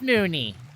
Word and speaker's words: Mooney: Her name is Mooney. It rhymes with loony.